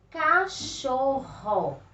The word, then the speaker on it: cachorro: falar a palavrinha vejamos quando a gente pronuncia a palavrinha por exemplo cachorro olha só o som forte que sai da nossa boca e vem lá de dentro então sempre que as